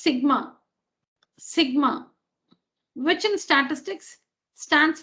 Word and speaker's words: sigma: it's a letter in the greek alphabet it's pronounced sigma which in statistics stands for summation or the